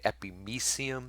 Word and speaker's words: epimysium: just so you know some people say epimesium you know perimysium that's fine i guess i usually pronounce it miceum that was the way i taught the way i understand it to be pronounced but i do hear people saying epimesium basically this is a